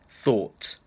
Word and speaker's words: thought: but in the past thought loads of students have a problem with this word because of the thought sound so I hip all